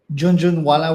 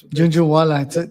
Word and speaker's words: Jhunjhunwala: We have Junjun Walla with us today. Am I pronouncing that right? No, no, you're exactly right. That's Junju Wala.